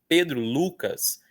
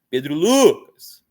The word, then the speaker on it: Lucas: Então, quando me chamam pelo meu nome inteiro, eu escuto mais o U. Ó, Pedro Lucas, eu escuto mais o Lu.